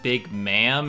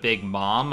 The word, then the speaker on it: Big Mom: He also was really harsh on me for saying Big Ma'am instead of Big Mom. I'm like, back in the day, before we knew the official pronunciation, everyone called her Big Ma'am among my friends.